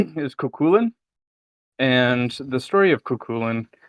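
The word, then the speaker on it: Cú Chulainn: snacking also I am post snack um the pronunciation is kulin and the story of kulin um in relation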